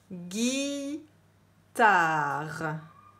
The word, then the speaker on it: guitare: vous avez besoin guitare il ya un e à la fin de guitare qu'on n'entend pas guy tard réfléchissez dans quel syllabes